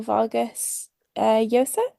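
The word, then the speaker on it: Vargas Llosa: the hero by um Mario Vargas Yos I think that's how it's pronounced it's it's published like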